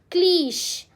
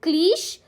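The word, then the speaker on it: cliché: हाउ डू you pronounce? Is इट क्लीश और इज इट क्लीशे? क्या बोलते हो आप इसको? क्लीश कहते हो? इट्स क्लीशे guys, क्लीशे. इसलिए मैंने ट्रैप में डाला आपको कि इट्स क्लीश.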